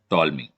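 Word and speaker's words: Ptolemy: we have a theorem called toll Ming प silent है we have a टॉलमी टॉलमी states that the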